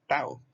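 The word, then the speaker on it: tau: letra que está aquí una letra griega se pronuncia Tao Entonces está el períodonte y está el medio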